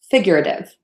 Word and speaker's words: figurative: did figure a bit figurative we got a schwa in here so super short sounds and then that that flap t situation again so figurative Christian are